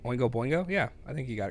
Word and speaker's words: Oingo Boingo: that's the one who did the did I pronounce that right when we go Boingo yeah I think you got it dope oh